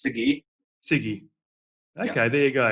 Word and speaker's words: Sagi: It's pronounced Sagi.